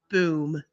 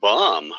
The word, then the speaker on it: BUM: like to call it boom wait the bureau undermining misinformation so the initials would be buum right yes that's correct so that would technically be pronounced as bum right technically yes but